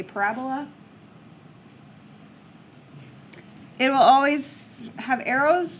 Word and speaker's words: parabola: I've also heard the pronunciation parabola, but I say parabola.